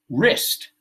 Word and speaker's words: wrist: That's that W you don't pronounce. So wrap, right? Envolver. Wrist, muñeca.